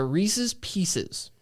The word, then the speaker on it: Reese's Pieces: so there's that uh Reese's Pieces average yes that is the correct pronunciation of this candy is Reese's Pieces if you say Reese's just at least say pieces please um that is all